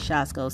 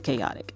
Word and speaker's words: chaotic: that was the word I think I said shasco so it's not shos it's chaotic all right so sorry about